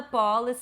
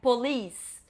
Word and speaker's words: police: Essa aqui eu já ouvi muita gente falando pol, não é pol, é police. Polisce. O nome desse país, a pronúncia certa é Japan.